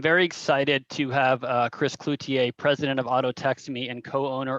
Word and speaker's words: Cloutier: No, but on the intro thing, I have CLUE-T-A, so Cloutier.